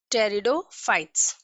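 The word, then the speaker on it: pteridophytes: जब भी किसी स्पेलिंग में P के बाद N, S और T आता है उस कंडीशन में लेटर P साइलेंट होता है।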